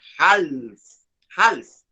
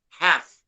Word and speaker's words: half: that very good and notice that the l is silent so we we're not supposed to say hals no half like this so we